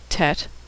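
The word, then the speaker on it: טית: are no tricks here tet makes a t sound as in tango tet is the first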